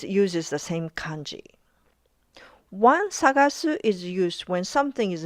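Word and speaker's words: さがす: Let's talk about two Japanese words that sound exactly the same. Sagaseu They are pronounced identically, but they are written with different kanji.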